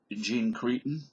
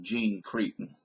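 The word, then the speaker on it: Jean Chrétien: remember Canadian Prime Minister Jean Creon I think the French pronunciation is J but I always called him Jean cron anyways Jean cron had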